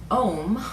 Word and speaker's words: Om: the full benefit from it ohm often spelled om is actually a um is a trinity of three sounds sewn together into one and it's known as